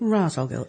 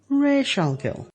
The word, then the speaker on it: Ra's al Ghul: character's name is rich I'll go and it's pronounced in the movie Ra's al Ghul it's not rattle girl it's rare shall kill and not to mention the fact that liam